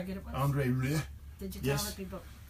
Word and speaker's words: Rieu: It's not Rhea. Rieu. Rieu.